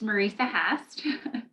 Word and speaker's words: Marisa Hast: i can go ahead it's marisa hast for the pronunciation for my name and i am uh